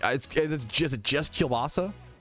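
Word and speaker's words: kielbasa: I mean that Is it just is it is it just kilbasa? How to pronounce kilbasa?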